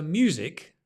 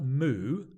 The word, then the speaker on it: music: um so music music notice it's a it's not moo it's not the sound of a cow like music it's me there's a y u as in U me music the stress on the me music is uncountable so